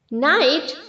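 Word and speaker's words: knight: okay नाइट नाइटेड नाइटेड क नाइट pronounce नहीं करना है नाइट जैसे हम गुड नाइट बोलते हैं ओके नाइट नाइटेड नाइटेड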